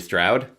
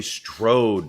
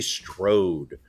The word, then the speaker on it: Strode: the role of Lori Stroud Laurie Strode not Stroud maybe that's the way they pronounce it in Pennsylvania but it is Lori Strode um you know uh